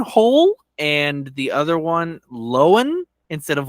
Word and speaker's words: Lohan: it's technically yelen hole and the other one loan instead of Lohan Lindsay loen um and there's also William Deo